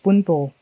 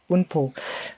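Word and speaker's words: 文法: Oh no, I actually thought it's actually pronounced the way I thought. Bunpo. Bunpo.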